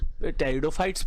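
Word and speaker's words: pteridophytes: फिर next class में हम ब्रायोफाइट और टेरिडोफाइट्स पढ़ेंगे, इसमें पी साइलेंट है बच्चों।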